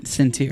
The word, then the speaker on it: Centier: Centier. Centier is how it's pronounced.